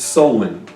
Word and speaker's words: Samhain: So with what's called Halloween, it started with a tradition called Samhain. You don't spell it S-O-W-E-N. S-O-W-E-N. It's S-A-M-H-A-I-N.